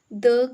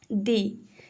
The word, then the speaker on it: the: Vowels होते हैं तो उससे पहले, वॉवल साउंड से पहले जब भी द का यूज होता है तो उसे हम प्रोनाउंस करते हैं दी। तो उसको हम दी प्रोनाउंस करते हैं। जैसे हम लिखते हैं दी एंड, हम द एंड नहीं बोलते, हम बोलते हैं दी एंड, ठीक है। क्योंकि यहाँ पे ई की साउंड आ रही है तो इसलिए यहाँ पे हमने क्या प्रोनाउंस करा, दी।